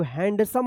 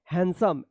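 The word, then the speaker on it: handsome: होगा हैंडसम पढ़ेंगे इसको हैंडसम मत पढ़िएगा यहां पे जो है ना डी साइलेंट रहेगा ठीक है ना यहां पे डी का उच्चारण नहीं होता है हैंडसम एच ए एन डी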